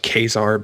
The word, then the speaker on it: Caesar: legion run by he he calls himself kesar but it's spelled Caesar so um yeah they think